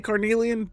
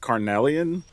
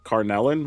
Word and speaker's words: Carnelian: I say Carnelian, but it might be like Carnelian. I've also heard people call it Carnellin, which is funny, and just not even pronounce the I.